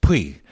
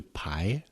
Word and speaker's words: Puy: And then Kristen Scott Thomas said, "Puy. Puy. Puy." And I was like, "Oh my god. I have been mispronouncing these lentils for my entire life. I thought it was lentils de Puy."